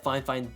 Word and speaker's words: Fifine: any good well recently fine fine and yes that is the correct way to say the name of this company reached out to me